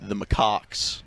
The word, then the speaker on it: macaques: The 214 says the correct pronunciation is the macaques.